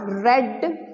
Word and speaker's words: read: Don't pronounce it as read. Understood? We will write the same thing, but when we pronounce it for V2 and V3, we will pronounce it as read, read, read, read, read. It is like that. But the spelling remains the same. So whenever you use read for the past tense, you will pronounce it as read, not read.